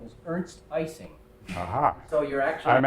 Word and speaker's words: Ising: I have a small comment, which is that Professor Ising was once asked how he pronounced his name, and he said that when he spoke to German audiences, he said his name was Ernst Ising.